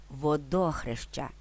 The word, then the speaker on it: Водохреща: поширені водохреще і водохрещ в обох випадках наголос спаде на другий склад водохреще Водохреща але пам'ятайте що водохреще-